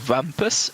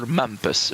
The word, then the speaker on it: Mampus: Before we continue, is it Wampus with a W or Mampus with an M? Mampus with an M. Okay, I pronounced it wrong, and Phantom told me that it's Mampus.